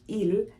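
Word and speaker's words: ils: but there's a catch in French you use ill when they're all men okay you use l when they are all women however if there are 99 women and one man you will use ill it might be a bit weird it might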